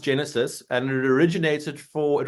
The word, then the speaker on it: Genasys: you Tony for having me it is actually pronounced Genesis and it originated for it was short for